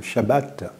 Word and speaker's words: Shabbat: Si nous considérons donc le texte sacré, le sabbat, ou comme le prononcent les Juifs, le Shabbat, trouve son origine à la création, au commencement même de l'humanité.